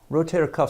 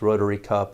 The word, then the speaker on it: rotator cuff: arrow you'll decide like to speak to you about rotator cuff injuries today rotator cuff sometimes is mispronounced by our patients rotary cup etc it's sort of funny